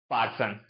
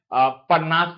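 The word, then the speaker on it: Parnas: हां Jacob पार्सन या परनास कोई बोल सकता है या पार्सन भी बोल सकते हो। कोई दिक्कत नहीं है। या कोई पारनास भी मतलब प्रोनाउंसिएशन करता है।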